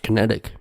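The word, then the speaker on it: QinetiQ: company qi n ET IQ which is pronounced kinetic but as to accuse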